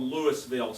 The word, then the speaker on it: Louisville: a little town called lewisville spelt like louisville kentucky except we pronounce it correctly that's where i've been